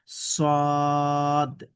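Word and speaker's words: صاد: এই হরফটির নাম হচ্ছে সদ একটু মোটা করে উচ্চারণ সদ এই হরফটি হচ্ছে দ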